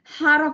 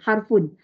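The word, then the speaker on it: حرف: sebut huruf pun boleh harf pun boleh baris dia sebenarnya harfun sebenarnya baris dia harfun tapi kita biasa matikan kalau tak nak matikan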